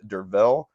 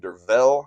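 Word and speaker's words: Derfel: Um, as I mentioned, it's the narrator is a man named Dervel. I believe that is how you say it, even though it's spelled with an F. I think that makes a V sound there.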